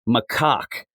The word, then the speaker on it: macaque: The real it's macaque. That's what that monkey is called. That is the pronunciation.